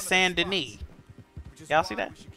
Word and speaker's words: Saint Denis: It's not St. Denis, it's Saint Denis.